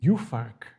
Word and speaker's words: Juhfark: Well, I know Furmint, but we have also another variety, Juhfark. Am I pronouncing it correctly? Juhfark? Yeah, it was perfect.